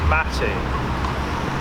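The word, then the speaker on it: mate: out and everyone is drinking tea everyone it's pronounced matty mata it looks like weed in a cup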